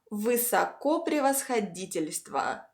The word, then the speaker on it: высокопревосходительство: Many long Russian words consist of several shorter words and have two stressed syllables. So that's totally fine. Высоко превосходительство. Высоко превосходительство. Two stresses.